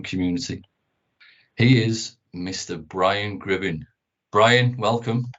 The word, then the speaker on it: Gribbin: the YouTube drumming community he is Mr Brian gribbin Brian welcome how are you very good thank